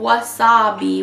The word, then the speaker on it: Wasa-Be: This is called Wasa-Be with you. So, like wasabi, but it's spelled W-A-S-A-B-E.